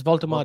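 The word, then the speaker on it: Woltemade: I'll say Is that how you say his name? Voltamade. yeah, it's Voltamade.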